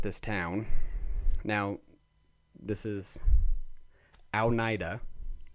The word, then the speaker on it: Oneida: town now this is al naida right where's aldenaida it's a little bit north of us so al nida some people say oneida one one ida if you listen to